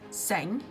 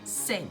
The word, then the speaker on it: säng: word is a de and this word is saying not sang but sing like an e so this is long